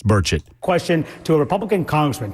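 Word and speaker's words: Burchett: he mispronounced Tim's name so berett it's burett question to a republican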